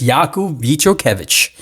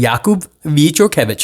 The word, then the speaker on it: Jakub Vichorkevich: told me via Instagram, he actually sounded it out for me phonetically, how to pronounce his name, and it's Jakub Vichorkevich. Very proud of that. Jakub Vichorkevich.